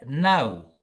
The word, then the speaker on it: know: Right, and then the word no. Which letter do you think is silent? K. Yes, the K is silent.